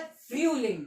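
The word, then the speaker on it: Frühling: कहते हैं फूलिंग फूलिंग पहले यू ठीक है जब भी यू उला उट जब भी यू उला उट तो हम साउंड जो होता है वो नीचे से ऊपर करते हैं नीचे से ऊपर मतलब फय ठीक है तो फलिंग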